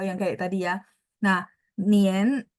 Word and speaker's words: nian: Nah, Nien dia bacanya E gitu ya, tapi tulisannya harus N-I-A-N nih, Sinien N-I-A-N ya.